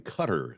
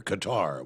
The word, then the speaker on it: Qatar: is going to be in Cutter this year the Middle East Country cutter Qatar whichever you want to pronounce it and if you're headed